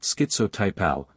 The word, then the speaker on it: schizotypal: It's included on the schizophrenia spectrum and should be pronounced schizotypal to reflect the odd type thoughts.